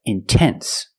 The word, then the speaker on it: intense: stress after the NT if you have a stressed syllable after NT then you have to pronounce the T example intense I put the stress